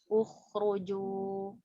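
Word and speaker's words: اخرجوا: Yang pertama, kata yang pertama cara bacanya adalah Uqtulu. Yang kedua, Ukhruju.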